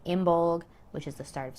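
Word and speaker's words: Imbolc: wrong at some point so it's not in bulk or belting it is imbol and beltna or beltana or beltana comment down below which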